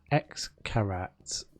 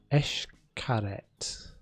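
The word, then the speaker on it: Xcaret: park there is called x carats pronounced eshkaret mexico oh man right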